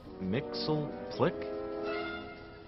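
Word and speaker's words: Mxyzptlk: Mr mix Mr Mr Mixel Plick no repeat after me bright boy it's mixed yes SP lick I ain't pronouncing that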